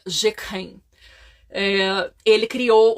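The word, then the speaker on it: Jacques Heim: deles é hã jeken Isso é a pronúncia em francês mas o nome é ja hein se pronuncia jeken eh Ele criou o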